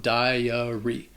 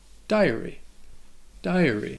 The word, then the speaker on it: diary: So this word can be a little confusing because it is 3 syllables. It's not 2. And the first syllable has that long I sound, that die, followed by the schwa, dahy-uh, and then the Y at the end has a long E sound, dahy-uh-ree.